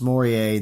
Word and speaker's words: mooreae: the ofone of elma Maurier and it is pronounced Maurier that's what Tanya Stewart from pure not tarantula